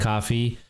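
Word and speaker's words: Ko-fi: a coffee and a kofi which is pronounced coffee uh if you that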